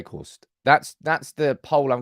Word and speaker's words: Weghorst: uh Dutch go here the G in veor should be pronounced as CH H so it's Vost V Vost I'm trying trying I'm trying